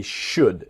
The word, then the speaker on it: should: So they should. Remember, the L in should is silent.